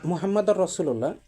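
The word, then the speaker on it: محمد رسول الله: আর মুহাম্মাদুর রাসুলুল্লাহ এটা এটা হচ্ছে একদম মানে একুরেট। আর আগেরটা শুদ্ধ কিন্তু ওটা হচ্ছে ভাঙ্গা উচ্চারণ। মানে ওটা মানে আপনার বললে ভালো শোনায় না আর কি। কিন্তু শেখানোর জন্য সুন্দর উচ্চারণ। কিন্তু আপনি যখন মানুষের সামনে বলবেন বা মুয়াজ্জিন হিসেবে বলবেন মুহাম্মাদুর রাসুলুল্লাহ। এটা সুন্দর। মানে সুন্দর বলতে পারফেক্ট।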